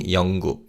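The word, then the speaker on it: 영국: Let's practice saying yonguk.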